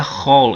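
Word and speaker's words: כל: é porque é aqui você tem o a, mas você pronuncia com som de o toda vez que você vê essa palavrinha aqui, ó, o o raf com o lamet e aqui sendo um comit pronuncia hall.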